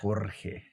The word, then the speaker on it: Jorge: You gotta roll your R, bro. Jorge.